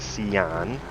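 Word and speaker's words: Sián: So we have the Lamborghini Sian.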